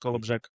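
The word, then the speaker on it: Kołobrzeg: pronounced Kolobrzeg, Kolberg in Deutsch.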